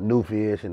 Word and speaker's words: Nuvisean: It's called New Vision. It's spelled NUVISEAN.